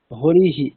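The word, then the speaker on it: हरिः: হরিহি, এখানে ইকারের পরে বিসর্গ আছে, তাই হকারের সাথে ইকার যুক্ত হয়ে হরিহি এরকম উচ্চারণ করতে হবে।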